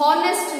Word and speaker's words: honest: जैसे HONEST हो गया honest, हम honest नहीं बोलते हैं, H का ह प्रोनाउंस नहीं करते हैं, so honest बोलते हैं, O से प्रोनाउंस करते हैं।